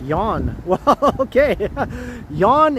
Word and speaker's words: Jan: Your name is pronounced Yawn.